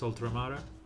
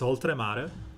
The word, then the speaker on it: Oltremare: On the notes of one of the best Ludovico Einaudi song, which is Oltremare. I don't know why I'm pronouncing it like in English. It's Oltremare.